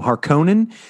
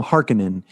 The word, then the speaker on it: Harkonnen: Some people pronounce them Harkonnen. Some of them, somebody pronounces them Harkonnen.